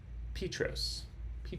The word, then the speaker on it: Petros: Town is pronounced Petros or Petros. Sorry. Petros, Tennessee.